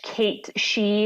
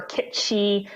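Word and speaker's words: Cait Sith: between Red 13 and Kate Sith, or how were we going to pronounce this? Well, I mean, we're American, so Kate Sith, but if you're a snob, it's Scottish Kate She or Kit She, but I think we're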